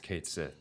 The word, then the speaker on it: Cait Sith: But Rebirth does like show other things with Cait Sith, Ketchi, however. Like, do we just need like an Irish person? No, To, there's like- a right way to say it, and it's Cait Sith.